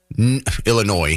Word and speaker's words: Illinois: So, we have the the political apparachics in Illinois, Illinois. I know the S is silent, sorry.